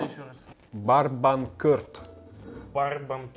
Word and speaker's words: Barbancourt: Барбанкорт. Барбанкорт. Корт, ну типа теннисный корт.